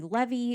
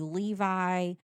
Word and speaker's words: Levi: But it's either, it could be Levy, it could be Levi. There's other ways there's one other way to pronounce it too, but there's really, there's so many ways to pronounce it. There's no telling. And I mean, around here, if you see that name right now, it's Levi. Yeah, we would say Levi.